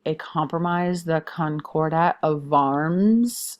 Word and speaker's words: Worms: There is eventually a compromise, the Concordat of Worms. I know it looks like worms, but Worms is how it's said.